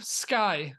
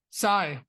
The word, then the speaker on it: Scy: Psy, excuse me. Where did Psy come from? It's just another pronunciation of scythe.